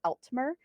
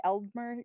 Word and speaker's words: Altmer: be using this time, not to be confused with Eltmer. I was just going to Uh, ask. yeah, which my Midwestern accent would say Eldmer, and I'm sure you can't really tell too much of a difference because I change all my T's to D's.